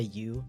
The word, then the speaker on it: Ü: Technically it's pronounced Ü, but definitely feel free to say you.